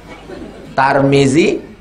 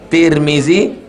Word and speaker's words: Tirmidzi: tmizzi ada atuknya tarmizzi cara membacanya tiga tarmizzi Tirmidzi turmuzi bisa dibaca tiga tar Tir tur tarmizzi tirmizzi turmuzi sama dengan Basri Hasan